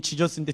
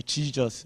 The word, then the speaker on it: Jesus: 내가 주님이 원하시는 삶으로 발음 잘해야 돼요. 애들이 잘못 들어, 목사님 예수님이 지저스인데 디저스라고요? 예, Jesus, Yes sir, Jesus.